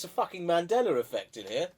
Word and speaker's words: Mandela: It's the fucking Mandela effect in here. Not Mandela. Is it What is- Mandela effect? Yeah. Oh no, because you always say it wrong. You kept saying the Mandala Well, I effect.